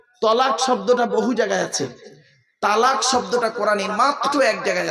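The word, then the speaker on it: طلاق: বলতে বলতে ঝগড়া করতে হোক বা বিভিন্ন কারণে তালাক দেয় তাই না বাবা বলুন না একটু বউ যাবে না ভয় নেই আমি আছি এখানে তো শব্দটা কিন্তু তালাক নয় শুনে নিন শব্দটা তালাক নয় শব্দটা হল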